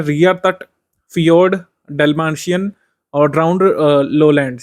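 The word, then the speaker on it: fjord: ध्यान रख सकते हैं फियोर्ड ध्यान रख सकते हैं जे साइलेंट है इसमें इसको फियोर्ड पढ़िए और डल बासन इसको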